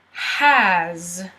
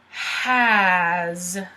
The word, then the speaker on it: has: beginning remember to capitalize the H so to pronounce it the S sounds like Ozzie has has as has so for example you might see